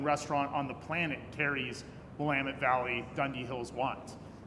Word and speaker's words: Willamette: AVA where people don't even know how to pronounce it, let alone it's in Oregon. Damn it, Willamette. We're still training the rest of the country to say Willamette Valley.